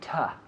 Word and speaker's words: to: So we have 2, but we say ta.